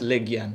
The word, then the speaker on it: Legian: It's actually pronounced Legian.